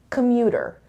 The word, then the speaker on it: commuter: of today's lesson is commuter commuter so this is the schwa sound commuter and now listen again carefully commuter commuter where is the stress commuter it's on the second syllable commuter commuter okay so